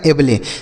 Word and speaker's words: able: ABLE रहेगा किसी भी शब्द में, तो इसे आपको एबल पढ़ना है।